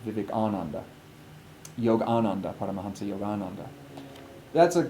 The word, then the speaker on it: Vivekananda: So it's a big difference to say that Swami Vivekananda came over than saying Swami Vivekananda, which is actually the pronunciation Vivekananda.